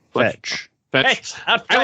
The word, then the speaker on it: Fetch: I like as you meet people along the way, like you meet Fletch or what's her name? I said it wrong. Fetch.